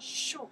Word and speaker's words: 数: You pronounce 数 it means number.